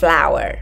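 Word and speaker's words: flour: đường và Floor no chữ này đọc là flower bột á Đọc giống như từ bông hoa đó mấy bạn nha không có đọc là Floor là sai đ Cô ấy đã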